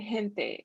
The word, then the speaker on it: gente: So glándulas and gente. It all depends on what letter comes after the G. So that would change the way you pronounce it.